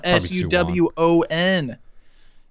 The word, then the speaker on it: Suwon: Suwon. I hope that's how you pronounce it. Suwon. Suwon.